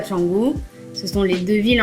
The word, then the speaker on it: Canggu: Et d'ailleurs on dit Canggu, on ne dit pas Kongu. Le C ici ça se prononce ch.